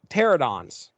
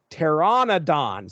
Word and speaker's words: pteranodons: reading this book and I'm saying pteranodons. That is not correct. It is pteranodons. There's an N-O in there I was completely missing. But anyway, they come across this trio of hungry pteranodons.